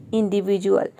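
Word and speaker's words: individual: Next है इंडिविजुअल। तो इनमें से कोई भी लेटर अगर डी के बाद आ जाता है तो वहाँ पे डी को हम क्या प्रोनाउंस करते हैं, ज प्रोनाउंस करते हैं।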